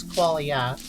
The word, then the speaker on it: qualia: It's spelled sort of like quality, but it's qualia.